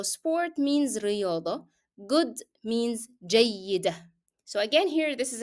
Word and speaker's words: جيدة: However, جيدة is also ending in tanween and also ending in t مربوطة, but I will drop the pronunciation of both because I'm stopping here.